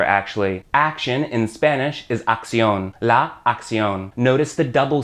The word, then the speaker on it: acción: The first C makes that hard K sound, then the second C makes the S sound. Acción.